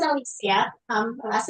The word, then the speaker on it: Alicia: Hey, um I pronounce it Alisia.